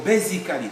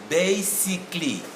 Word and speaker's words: basically: say basically or basically first of all is the sound is wrong it's not basic it's basic then it's not curry it's clean so this one will give us basically basically basically hear the sound basically that's it there's no basically all the c a double l y should give us clay sound in both variants of the